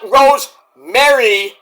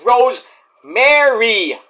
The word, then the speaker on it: Rosemary: two-time Knockouts champion herself, Rosemary, not Rosemary, like Merry Christmas, it's Rosemary, M-A-R-Y, Mary, like Mary had a little lamb.